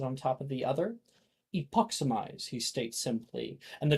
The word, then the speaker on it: epoximize: Now, the spell is pronounced epoximize. Say it with me.